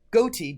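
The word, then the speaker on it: ghoti: Also, goti, G-H-O-T-I, fish, right? Because the G-H can be pronounced as an F, as in rough, R-O-U-G-H. O can be pronounced as an I, as in I.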